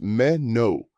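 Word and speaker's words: menú: Menu is menu, pronounced meo. The accent mark indicates that stress falls on the final syllable.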